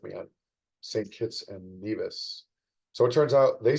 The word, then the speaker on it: Nevis: Kitts and Nevis. So it turns out they say Nevis and we say Nevis in the US, or so I was told.